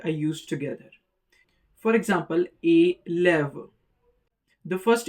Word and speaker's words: élève: For example, élève. The first E uses accent aigu or the acute accent sounding like A. The next one uses the grave accent and the sound is A. Élève.